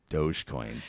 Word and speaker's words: Dogecoin: this field but another word commonly mispronounced was dogecoin dogecoin it has a dog on it but the dog has always been by memes referred to as doge it's the doge and so the the